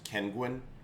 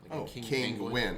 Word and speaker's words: Kinguin: seller terms of service kenguan kinguin spell it uh king uin king win i thought it was